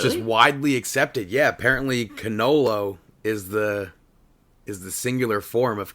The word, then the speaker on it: cannolo: Yeah, I think in Italian it's actually cannolo.